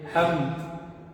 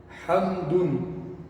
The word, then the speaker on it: حمد: A pessoa não vai pronunciar ela o que? Hamd. Hamd. Não é dessa forma. E sim com Ha. Hamd. Hamdun. Hamdun. Dessa forma a pessoa pronuncia.